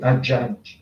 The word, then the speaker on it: Haddad: E o autor é Fabrice Haddad, que escreve da pronúncia árabe Haddad, Fabrice Haddad.